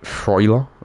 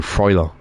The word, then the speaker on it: Freuler: Pronounce it Freuler. Ooh, Freuler. That makes sense, to be fair, actually, partners. That does make sense. Freuler.